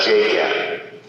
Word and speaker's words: JGET: J-G-E-T. Okay? In my classes with my students, I pronounce that JGET.